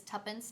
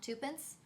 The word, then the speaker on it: Tuppence: mispronounced tuppence middleton's name it is tuppence not twopence i said twopence in